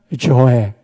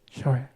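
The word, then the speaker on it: ζωή: 발음 한번 해봅시다. 푸시케, 푸시케. 또 하나가 조에, 조에.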